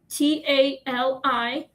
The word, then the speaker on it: Tali: Our little cat's name is Tally, Tali. That's how you pronounce it. That's how you say it.